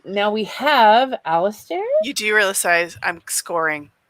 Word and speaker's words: Alistair: It's Alistair. So I know it's the stare throws everyone off.